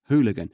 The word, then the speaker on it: hooligan: a unique English word the first part reminds me of um that song where it where it goes who Let The Dogs Out who who who who who I think I've got the Rhythm there wrong but I've certainly nailed the first syllable or it reminds me of the Spice Girls song where they go who do you think you are you know who again that who sound hooligan and there's five of